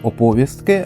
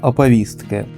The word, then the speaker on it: оповістки: Я кажу оповістки, а правильно оповістки.